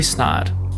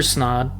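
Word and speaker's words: Snead: Fletcher Snide, I think it's how you say it, Sneed? Maybe it's Sneed. S-N-E-A-D. Maybe it is Sneed. S-N-E-A-D? Yeah. Yeah, I'd say Sneed.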